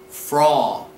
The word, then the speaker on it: Frau: The correct pronunciation would be Frau, Frau, Frau.